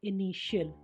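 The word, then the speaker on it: initial: टी के बाद IA, IE, IO आएगा तो टी का उच्चारण श हो जाएगा। INI TIAL इनिशियल शुरुआती, PARTIAL पार्शियल आंशिक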